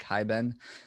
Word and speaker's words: Hiben: which is just hibben or it's spelt like hi ben and then i also